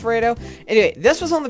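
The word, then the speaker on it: Raidou: But, I believe it's pronounced Rado? I think it's pronounced Rado.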